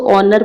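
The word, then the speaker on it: honour: ऑनर के साथ एन लगेगा क्योंकि यहां पे एच साइलेंट होता है। इसको ऑनर पढ़ते हैं।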